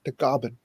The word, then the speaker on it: Tagaban: norte and um my last name tega band in the philippines is pronounced the goblin and it means the